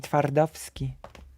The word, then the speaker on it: Twardowski: Twardowski.